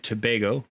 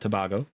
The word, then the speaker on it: Tobago: yes yeah that's true I've been corrected by staff in is Trinidad and Tobago not Tobago my apologies noob I don't